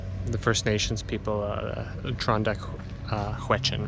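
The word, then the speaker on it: Tr'ondëk: question right um so uh trondeck is actually um uh where the the river named Klondike comes from Klondike is actually a kind of a mispronunciation of trondeck um and of course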